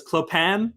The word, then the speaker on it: Clopin: of horse we have I'm assuming you want it pronounced as clop an sort of like Chopin dreaded priest yes all right we have clopin played by dread priest